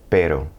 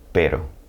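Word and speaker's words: pero: G here's another example per which means butt in Spanish like B butt per now if I stretched it out it become per and that's a completely different word it means dog in fact while we're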